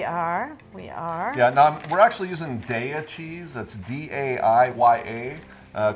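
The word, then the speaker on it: Daiya: products out there and daya just to think of dairy da dairy that's how it's pronounced daya cheese and they've got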